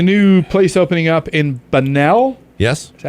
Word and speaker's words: Bunnell: There's a new place opening up in Bunnell. Yes. Is that how you pronounce it? Bunnell?